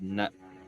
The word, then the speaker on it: naloxone: Basically, what this thing does with this, I think that's how you pronounce it. Naloxone.